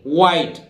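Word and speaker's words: white: इसी तरह देखिए व्हाइट, ऐसे बोलते हैं नहीं व्हाइट, एच यहां भी साइलेंट रहेगा ठीक है, और व्हाइट आप जानते हैं सफेद को बोलते हैं।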